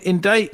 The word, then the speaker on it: indict: have rain I mean indict is kind of an interesting word interesting to word people the question is why do we not pronounce the C why don't we pronounce